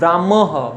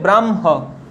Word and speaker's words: ব্রাহ্ম: তাহলে কি মনে রাখবে, যদি মফলা হয়ের সঙ্গে যুক্ত থাকে, হ দিয়ে মফলা যুক্ত বর্ণগুলো উচ্চারণ সবসময় কিভাবে করবে, মটা আগে রেখে উচ্চারণ করবে।